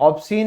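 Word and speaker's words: obscene: ठीक है, ऑब्सीन में सी साइलेंट है।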